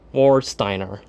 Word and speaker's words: Warsteiner: Schnitzer company and um I don't know how to pronounce this W warsteiner I guess that's how you pronounce it War Steiner yeah this part um